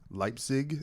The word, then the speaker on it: Leipzig: so for those who don't know, we're in Leipzig. Am I pronouncing that correct? Oh, yeah. Yeah. We are in Leipzig, Germany.